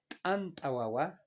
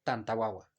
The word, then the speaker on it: antawawa: Antawawa, antawawa y no tantawawa.